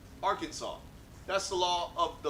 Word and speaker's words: Arkansas: 3 syllables with the accent on the first and last syllable, and a silent S at the end. They're having none of your Arkansas.